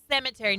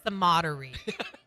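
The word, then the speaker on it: Sematary: and by the way it's pet cemetery not pet sodie on Friday you kept saying pet codery and I was like what is a sarer you yeah but it's a cemetery is what but it's spelled Soder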